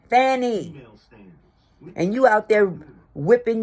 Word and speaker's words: Fani: your government name fonnie if you wanted to be called fonnie maybe you should have spelled it f o n n y or f o n y or f o n i but it's spelled f a n i Fanny and you out there